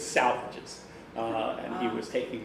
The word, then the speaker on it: Salvages: in in his in the poetry book saying salvages rhymes with the swages okay now the original the